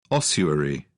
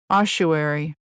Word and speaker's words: ossuary: Ossuary. Ossuary. Okay, so the first one was in British English and the second in American English.